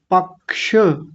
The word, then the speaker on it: पक्ष: पक्ष श इसका उच्चारण ज्यादा ध्यान रखना है। नहीं तो ज्यादातर लोग इसका उच्चारण क्या बोलते हैं? पक्ष ऐसे बोल देते हैं। पक्ष छाता जो अभी बता रहे थे। पक्ष नहीं होता। पक्ष श लास्ट में ये उच्चारण आना चाहिए क्योंकि ये क और मूर्धन्य शकार से मिलकर बना होता है तो जैसा है वैसा ही बोलना है।